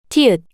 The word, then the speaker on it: 티읕: kieuk, 키읔, kieuk, 키읔, kieuk, tiut, The name of this consonant is tiut, tiut, the same t sound you make when you pronounce teeth.